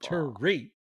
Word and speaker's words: Thierry: Thierry, You gotta put the Thierry, emphasis on the second syllable. Thierry.